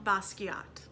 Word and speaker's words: Basquiat: talked about last week it is French in pronunciation jean-michel basquiat you say Basquiat bus